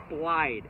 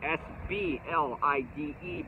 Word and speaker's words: SBLIDE: that we call the SBLIDE, S-B-L-I-D-E bait, SBLIDE bait. S for the spoon, B for the blade bait, and I, the I part, because it glides. So it rhymes with glide, I.